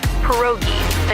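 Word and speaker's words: pierogi: Peroi. Did I pronounce that right? It's pronounced perogi.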